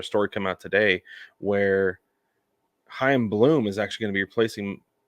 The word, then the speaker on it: Chaim: Then I saw this other story come out today where Chaim Bloom is actually going to be replacing Mozeliak after the 2025 season.